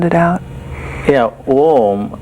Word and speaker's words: Om: Yeah, Om has three sounds built into it. The first sound is Ah. The second sound is U.